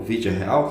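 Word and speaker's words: Villarreal: o Vila Real aqui com o vd real que é a pronúncia certa né no espanhol o v real joga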